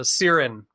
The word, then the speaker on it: Xiren: yeah well you know almost no one pronounces the X like an S or a C and it's but it's an Irish name my dad is a dolphin's barn Dubliner so it's a it's an Irish name with a bit of a creative spelling and the original Latin X as an S so Seiran and justin of course